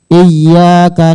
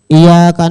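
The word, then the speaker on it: إِيَّاكَ: di dalam suratul Fatihah apabila yang bertasdid dibaca takfif maka tidak sah bacaannya misalnya iyyaka na'budu wa iyyaka nastain pakai tasdid Iya kalau Dib pakai tasdid iyaka na'budu WA iyaka nastain nah KAD sah bacanya apabilya tahu dan sengaja ya k sengaja membaca itu tahu maknanya maka kafir hukumnya Kenapa karena Iya itu maknanya adalah eusamsi yaitu cahaya matahari jadi seakan-akan dia berkata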